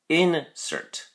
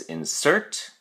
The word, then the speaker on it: insert: noun in which case the pronunciation differs or changes by having this stress or emphasis placed on the first syllable so in a noun form it's insert insert the verb form is insert the noun form is